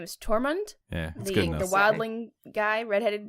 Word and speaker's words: Tormund: is I think you say his name is tormund yeah the wildling guy redheaded dude that's super